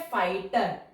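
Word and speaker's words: fighter: Word है फाइटर। देखिए टर, टर की साउंड आ गई, जीएच तो हमारा साइलेंट है।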